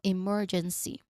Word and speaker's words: emergency: Now again remember the um the emphasis is on the second syllable m. So emergency.